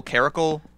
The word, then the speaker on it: Caracal: How do you pronounce that? Regal Caracal.